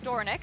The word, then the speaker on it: Dornoch: Belmont Stakes winner, as his son Dornoch, aggressive from the start there in the Belmont Stakes, or Dornick, I guess is the correct pronunciation we're saying too, Andy, and he